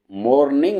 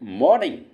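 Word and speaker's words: morning: आएगा since since मॉर्निंग इसको मॉर्निंग नहीं पढ़ते इसको पढ़ते हैं मॉर्निंग अंग्रेज लोग अंग्रेज लोग जो होते हैं इसको आर को साइलेंट कर देते हैं मॉर्निंग कर देते मॉर्निंग अच्छा जी नेक्स्ट क्या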